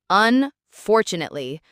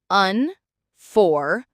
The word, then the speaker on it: unfortunately: Unfortunately. Whew, that's a mouthful, right? Let's break it down. Unfortunately. Notice how the two often sounds like chew in American English. Unfortunately.